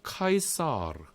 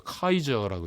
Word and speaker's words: 카이사르: 카이사르가 그러니까 물론 우리 영어로는 황제를 시저라고 읽잖아요. 그건 영어적인 발음이죠. 시저는. 근데 저기 유럽 쪽에 가보십시오. 시저라고 읽는 사람이 어디 있어요? 시저라고 읽지 않죠. 카이저라고 읽죠. 카이저. 그죠? 카이저. 그게 시저죠.